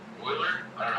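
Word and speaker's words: Euler: Oiler.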